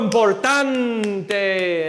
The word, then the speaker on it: importante: You're always rising up on the penultimate syllable, the before last syllable, and then you're landing gently on the ending, right?